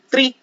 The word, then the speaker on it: three: I'm not saying tree because three doesn't mean anything.